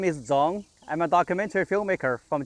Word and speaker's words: Zhong: So it's Zhong, Zhong, Zhong. So it took me a while to come up with an acceptable pronunciation, and I don't even know if that's correct.